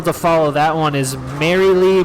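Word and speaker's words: Marylee: follow that one is merrily merrily merrily uh spelled like names uh m-a-r-y-l-e-e three times merrily merrily merrily tune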